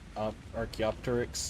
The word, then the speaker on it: Archaeopteryx: So I can't show you that one, sorry, Corgi, but there are Archaeopteryx, there are raptors that are the nondescript, more or less Utah raptors from Jurassic Park. Archaeopteryx. Archaeopteryx.